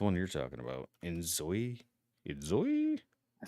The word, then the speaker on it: Enzoi: Enzo. I think that's what's how it's pronounced. Enzoi I Z O I Yeah.